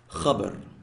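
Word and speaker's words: خبر: In Arabic, it's pronounced khabar, khabar.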